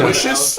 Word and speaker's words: Aloysius: Aloysius. I'll go to the top rope with that. Aloysius. Aloysius ascending to the top turnbuckle. There he is, perched, waiting for his. And it rhymes with delicious, so you can do promos.